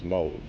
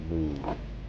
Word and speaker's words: Moog: of the mono synth, which is Moog. Or as the Brits say, Moog.